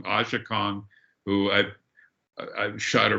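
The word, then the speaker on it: Aja Kong: the name i was thinking of russ it's pronounced asha kong ashikong who i've i've shot her multiple times at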